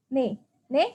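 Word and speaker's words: 네: ini nih kalau enggak ini bacanya apa bacanya adalah nih nih artinya apa ne artinya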